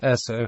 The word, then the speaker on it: Esso: In those states, it marketed its products under the brand Esso, the phonetic pronunciation of the letters S and O.